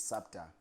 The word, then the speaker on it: SUPTA: it and obviously because the more you hear super you think it's super but the more you hear the right way of of pronouncing the name which is sapta uh the more people will get to you